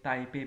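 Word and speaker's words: Taipei: Taiwan की क्या है तपे ताइवान की कैपिटल है तपे और हिंदी में इसे ताइपे भी कहते हैं ताइवान की कैपिटल है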